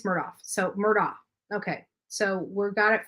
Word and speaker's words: Murdaugh: Alex Murdaugh is his son.